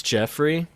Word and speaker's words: Joffrey: and Jeffrey with Oliver jeofrey I thought was his name it's spelled like Joffrey but it's Jeffrey I hate him now